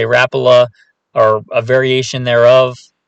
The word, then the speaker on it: Rapala: some people I say rapoa some people say Rapala or a variation thereof it's from one of the Scandinavian countries if you know exactly